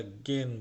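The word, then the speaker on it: gehen: শ্রীমেন, থানজেন নাচা, রাইজেন ভ্রমণ করা, জিঙেন গান গাওয়া, জগেন জগ করা, ফটোগ্রাফার ছবি পড়া, গেন গেহেন না কিন্তু গেন যাওয়া। আগে আমরা যে সেহেন পড়েছিলাম, আমরা বলছি সেন বলতে, ঠিক সেরকম এটা গেন বলবেন, গেহেন না গেন।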